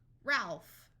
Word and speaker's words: Ralph: five important site words pH has the sound of f f f here's a name R Alf Ralph notice the silent E